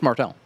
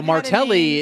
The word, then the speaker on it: Martelle: Oh, it's Martell. Oh, nothing's been like not been dubbed on you. No, Martelli is when people when people can't pronounce my name properly.